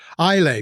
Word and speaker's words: Islay: Islay Blue, that was an island in Scotland. And again, another two-syllable.